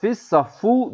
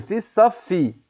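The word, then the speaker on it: في الصف: Fissaffu değil. Fissaffi. Şeddenin altında ise i diye okunur. Kesra diye. Üstünde ise fetha yani e diye okunur.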